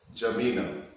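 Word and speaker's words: N'Djamena: Go to Chad, which is N, D is silent, Jamina.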